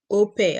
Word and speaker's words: au pair: I know people don't know about it, like it is spelled AUPAIR. That is OPE. I call it OPE. I don't know if it is actually correct the way I'm pronouncing it, but there are many pathways you can come to Germany.